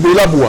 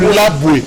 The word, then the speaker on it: Bolaboué: Vous dites Bolaboué. Non, c'est Bolaboué.